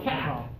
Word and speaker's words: cap: a hat especially no that's a that's with vibration this is C with no vibration good question okay has